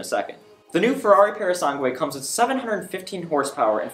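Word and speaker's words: Purosangue: naming not mine that being the new Ferrari parasangway yes that's how you say it don't crack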